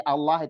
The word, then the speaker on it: Allah: Huruf Allah ya harfun jalalah namanya, pelafalan Allah itu mau dari kasroh, mau dari domah, mau dari fathah itu 2 harokat. Jadi Allah itu jangan sampai kurang panjang, 2 harokat.